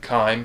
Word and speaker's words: chyme: So the stomach is eventually going to drop what's called chyme down, and I may be mispronouncing that as well, but that's correct, chyme.